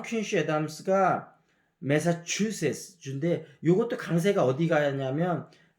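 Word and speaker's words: Massachusetts: 이제 존 퀸시 애담스가 매사추세츠 주인데 요것도 강세가 어디 가냐면 매사추에 가거든요. 그러니까 제일 강세는 매사추에 가고 이 강세가 매사추세츠에 가니까 매사추세츠 이렇게 얘기해야 되고 뉴욕도 이제 뒤에 강세 간다고 그랬잖아요.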